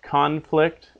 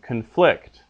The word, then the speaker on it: conflict: determined by definite rules so in English you know we have words like conflict and conflict conflict is the noun conflict is the verb they're spelled the same but they're pronounced differently solely based on their accent the soda is also